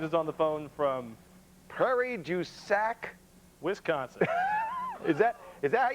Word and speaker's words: Prairie du Sac: lot nick joins us on the phone from prairie du sac wisconsin is that is that how you say